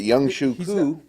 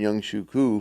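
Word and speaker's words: Younghoe Koo: Then you got Young Shuku.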